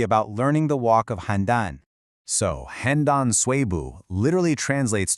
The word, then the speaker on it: Handan: The first one, pronounced Han. This gives us a sense of place. And the second is Dan. When you put them together, Handan, you get the name of